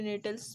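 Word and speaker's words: Gnetales: इसमें जी को हम लोग साइलेंट करके नेटल्स बोलेंगे।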